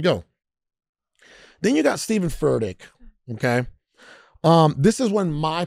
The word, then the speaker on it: Furtick: I can't pronounce his last name. What's his last name? Furtick? Furtick.